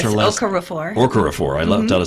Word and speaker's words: Okorafor: Is that how you pronounce her last? Yes, Okorafor.